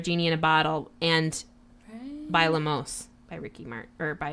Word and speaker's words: bailamos: of that song I think you're saying it wrong bailamos is it a double el no ba il am OS by Olmos if it was double oh yes it's one out just one oh okay this is